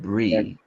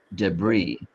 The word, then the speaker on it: debris: And Oh, in French, if you have a vowel like the letter I and then an S, the S is silent. So this word, we pronounce it deb- debris, debris, okay.